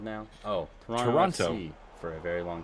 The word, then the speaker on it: Toronto: Oh, Toronto FC for a very long time. And Alan pronounces it like an American, pronouncing all of those T's when everyone knows it's actually just the first one that's pronounced.